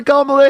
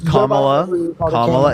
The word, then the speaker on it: Kamala: I appreciate the $50 for Kamala Harris 2024.